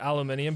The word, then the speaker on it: aluminium: British friend that uh they pronounced aluminum wrong uh and then I realized that they pronounced it aluminium because it's legitimately spelled aluminium it has an extra letter the English over here literally just removed a letter from it that's what